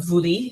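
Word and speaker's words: βουλή: and uh this uh boule and it is the word actually for you know the parliamentary body in modern Athens today the it's called the voui in uh modern Greek pronunciation it prepared the business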